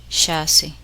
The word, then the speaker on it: chassis: The letter S is silent in the following words. Listen and repeat each word after the speaker. Carp, aile, chassis, debris, chamois, lille.